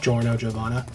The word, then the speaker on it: Giorno Giovanna: And it's pronounced Giorno Giovanna. So... even though it looks like it should be Geo.